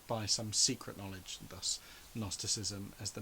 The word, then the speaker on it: gnosticism: become known as gnosticism but it's spelt with a silent g so if you're reading it and you've never heard it said it's gnosticism but it's just gnosticism um and uh gnostic is the greek word for knowledge see they have a silent g we have a silent k all language is messed